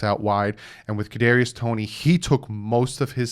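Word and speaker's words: Kadarius Toney: me make sure i say his name right cadarius tony ybc from florida he's six foot tall 193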